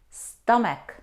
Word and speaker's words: stomach: chemistry Saito stomach no though we see the combination C and H we don't pronounce here in these words we pronounce them psycho psychologist psychology stomach chemistry we don't pronounce we